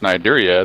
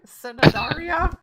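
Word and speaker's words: Cnidaria: If you want it to be pronounced Nidaria, then leave the damn C off. Exactly. I ain't gonna pronounce. I'm like, what do we? Cindaria?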